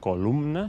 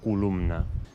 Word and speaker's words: columna: No diem columna, sinó columna.